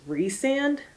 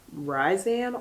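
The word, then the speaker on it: Rhysand: r h y s A and D is re-sand and not ryzan or resand whatever like when I write my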